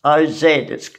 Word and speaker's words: Oz: that new satirical magazine, Oz, O-Z, it's pronounced Oz.